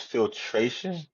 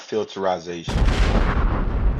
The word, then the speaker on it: filtration: G to push back it's filtration not filteration filtration filteration that's not a real word you can't filiz something